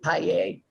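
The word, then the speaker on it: Pajer: name please p-a-j-e-r e-a-j-e-r i think she pronounces it paella okay and could you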